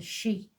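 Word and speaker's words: sídhe: The Sade, or the She, because it's Irish and it's spelled funny, is a magical place beneath the large mound in Ireland.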